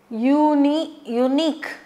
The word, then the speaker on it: unique: jungles to look for unique. So unique, I told you this unique and unicorn and all, U pronunciation. So, this is a consonant.